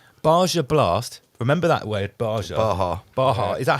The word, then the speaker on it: Baja: Remember that word, Baja? Baja. Is that how you say it? Yeah, Baja.